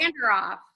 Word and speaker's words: Vanderoef: Vanderoef.